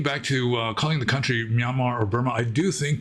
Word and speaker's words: Myanmar: It's pronounced Myanmar, but they just put an R at the end to like signify that it's a long A, Myanmar.